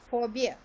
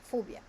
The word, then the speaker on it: phobia: That's a 3-syllable word with the stress on the first syllable.